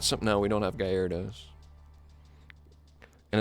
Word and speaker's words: Gyarados: No, we don't have Gyarados. And it's not Gyaradosi, dude. I do not pronounce it Gyaradosi, all right?